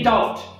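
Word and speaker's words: doubt: आधी त्याचा वापर केला जातो तेव्हा b हा साइलेंट लेटर असतो. तर त्याचे एक्झाम्पल्स पाहूया. आता याच्यामध्ये बघा की डाउट.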